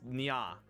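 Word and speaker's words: ня: is the Russian alphabet, That is pronounced as nya, like a cat. I do not remember the full explanation for it, but yeah, using just the way that Russian letters are pronounced, that says nya.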